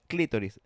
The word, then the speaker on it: clitoris: It is clitoris. It's clitoris with just a little accent on the I.